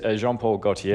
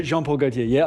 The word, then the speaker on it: Jean Paul Gaultier: So it's because it's a French director I always mispronounce everything but it's Jean Paul Gautier. Jean Paul Gautier.